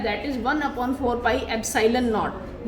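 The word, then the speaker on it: epsilon naught: जो जीरो है इट इज pronounced as नॉट, और ये जो सिंबल है दिस इज एप्सिलॉन। तो हम इस कांस्टेंट को क्या बोलते हैं, एप्सिलॉन नॉट, EPSILON, एप्सिलॉन नॉट। इसको लिखना नहीं है एप्सिलॉन नॉट, प्रोनाउंस इसको एप्सिलॉन नॉट करना है।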